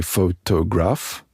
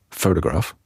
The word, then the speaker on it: photograph: The advantage of the complexity of English pronunciation is that it's actually very useful. The fact that, for example, we don't say photograph, we actually say photograph, makes it easy to separate that word from